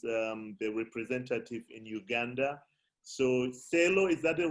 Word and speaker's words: Celo: So Celo, is that the right pronunciation, Umar? Yes, Michael. Celo.